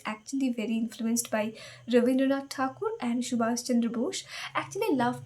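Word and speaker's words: Thakur: She was actually very influenced by Raindraat Takur and Shubasendra Bush actually love to pronounce it Takur because it's actually Tur it's not Teor.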